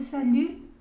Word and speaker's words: salut: Ok, este salut, de aquí tampoco, esa T no se pronuncia.